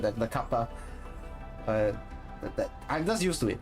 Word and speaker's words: Kappa: I pronounce as kappa, by the way. So like the Japanese mythical creature, right? The kappa.